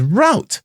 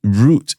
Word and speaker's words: route: country has started to pronounce it as route yeah well we supposed we are supposed to be speaking uh The King's English right so it's root is never R but the Americans